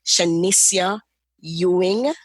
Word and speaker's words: Shenesia Ewing: So I want to welcome Shenesia Ewing, and I know that I pronounced that right?